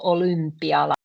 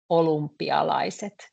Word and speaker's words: olympialaiset: So this U, when we say it, it tends to sound like U, olympialaiset. That's because it's quite difficult to pronounce. Olympialaiset is actually what we say, but this is how it's written.